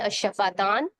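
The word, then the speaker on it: شفتان: तो एक और चीज प्रोमिनेंट हमें हमारी क्या नजर आ रही है, होंठ, जिसको अरबी में कहते हैं अशफातान या अशफातैन, दोनों तरह से सही, दोनों प्रोनाउंसिएशन सही है आपकी।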